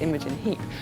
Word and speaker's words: Imogen Heap: Imogen Heap, which my name is pronounced Imogen Heap.